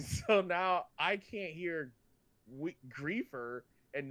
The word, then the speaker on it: griefer: That is so weird that it's griefer. That makes it instantly uncool, and I'll never say that again. Have you been saying it wrong this entire time? I thought it was a griff. I thought you were like griffing. Like a grifter.